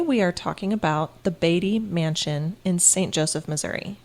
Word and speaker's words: Beattie: Talia and today we are talking about the batty mansion in St Joseph Missouri is that how it's pronounced yes I'm sure I will be calling it Bey throughout but it's batty okay cuz that's how I thought it was